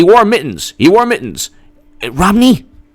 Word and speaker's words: Romney: mittens he wore mittens romney rhymes with schwamny romney romney mitt romney